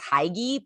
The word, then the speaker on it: hygge: I think it's hygge. It looks like it's hygge, but it's not.